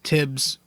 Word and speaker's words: Thibs: And, how Thibs, I always say Tibbs. I know it's TH, that's how you pronounce it, but I always fucking pronounce it silent for some reason.